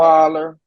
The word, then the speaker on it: Osweiler: Osweiler.